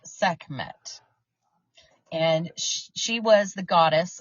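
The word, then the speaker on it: Sekhmet: so Dan I'd like to introduce you to seet so seet seet s e k h m t pronounced seet and she was the goddess of war in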